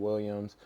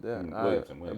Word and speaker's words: Williamson: Hopefully we can get somebody like Zion Williams in a situation like that. Zion Williamson? Williamson.